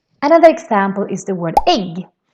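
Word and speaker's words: ägg: Another example is the word egg. Egg is also written with a with two dots on the top, but still pronounced like a short version of the e. Egg.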